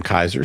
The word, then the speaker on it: Kaiser: Kaiser says, "Mr. E, my last name is pronounced Kaiser. I noticed you struggled with pronouncing it.